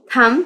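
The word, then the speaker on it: thumb: यहां पर क्या है बी थंब पढ़ेंगे थंब नहीं पढ़ेंगे इसको थंब और यहां पे बी जो है क्या है हमारे पास साइलेंट है तो आपको साइलेंट लेटर्स भी यहां पे अंडरस्टैंड हो गए होंगे होंगे।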